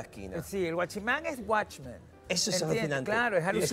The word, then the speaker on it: guachimán: De Watchman ha evolucionado una deformación fonética. Watchman, y se escribe G-U-A, Che, que es muy importante la Che.